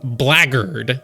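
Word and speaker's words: blackguard: has taught me that this word is actually pronounced blackard apparently yeah blackard or blackard yeah Peter Batley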